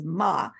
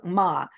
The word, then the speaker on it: Mma: I do know that the pronunciation of MMA is Ma, because yesterday, Tom looked it up for me when we were working on pronunciation. So there's Ma.